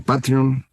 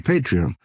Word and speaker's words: Patreon: Substack o el de Patreon, que ya sabe usted se pronuncian Substack y Patreon, pero todos los conocemos como Substack y Patreon.